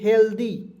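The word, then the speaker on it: healthy: एल टी एच वाई तो इसे दोस्तों पढ़ेंगे हेल्दी ठीक है एच ई एल डी आ दोस्तों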